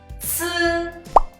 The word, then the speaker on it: 次: The pronunciation of C is very similar to Z. The only difference is that Z is unaspirated sound, but C is the aspirated sound. So when you pronounce C, you need to exhale more to pronounce it.